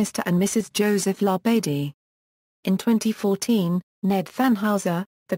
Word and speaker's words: La Badie: References: Florence La Badie pronounces her name La Badie. It's French and there is no accent on any syllable. Some well-meaning persons pronounce it La Badie, which makes Florence shudder and say, sounds like a coroner's inquest.